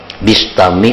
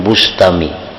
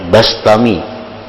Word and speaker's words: Bistami: Yazid Al-Bistami atau Al-Bastami, membacanya Bistami atau Bastami, jangan Bustami. Jadi bi atau ba, karena dalam beberapa kitab ada yang membarisi mendabitkan bi kasril ba Bistami, ada yang bi fathil ba Bastami.